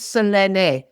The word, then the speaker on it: Selene: Well, in Italian, it's Selene. It's really easy to pronounce because every syllable is pronounced.